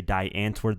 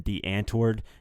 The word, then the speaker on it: Die Antwoord: on untouchable he said I'd rather hear him say die Antwoord than DeeAnn toward ninja now it's better disguised